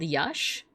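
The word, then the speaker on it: Yax: I think it's yush. Yeah, this this glyph is called Yash Y Ax and it's for green blue.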